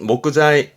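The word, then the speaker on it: 木材: 발음은 목자이 목자이 가장 많이 보지요?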